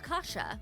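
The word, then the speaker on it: kasza: The Polish version of kasha is kasha, which is pronounced the same but spelled with a Z instead of an H.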